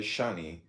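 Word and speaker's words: שני: In Hebrew, too, is S-H-N-I, Shane, and pronounced as Shani.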